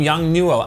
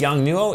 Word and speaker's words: Yongnuo: called so hopefully it's young new oh if not please correct me and I will